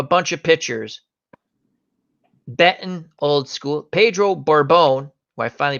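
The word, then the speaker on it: Pedro Borbón: they have a bunch of pictures bettan old-school Pedro Borbon who I finally pronounce his name right Tom browning play Carroll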